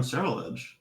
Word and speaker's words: Ceruledge: Ceruledge.